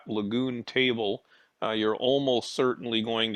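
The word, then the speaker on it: Lagun: of that table again it's spelled l-a-g-u-n and if you google that lagoon table you're almost certainly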